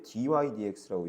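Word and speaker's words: dy/dx: 읽을 때 dy dx라고 읽는 거예요. dx분의 dy라고 읽는 게 아니에요.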